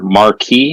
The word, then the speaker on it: Marquis: Marquis, is that how it's pronounced?